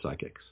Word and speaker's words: psychics: It's called Pondering the Published Predictions of Prominent Psychics. I tried to do a lot of alliteration, but unfortunately psychics is pronounced with a soft P.